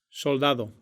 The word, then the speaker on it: soldado: soldado, Но в обоих случаях можно произносить и аппроксимант «з». Madrid, soldado, В русском языке при определенных условиях пропадает разница между звонкими и глухими согласными.